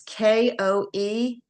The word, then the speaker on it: Koenig: It's John, I believe it's pronounced Koenig. It's Koenig.